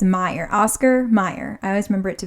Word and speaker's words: Oscar Mayer: Oscar Meyer.